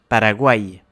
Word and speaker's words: Paraguay: Ça veut dire qu'on va accentuer la fin du mot. Par exemple, Paraguay.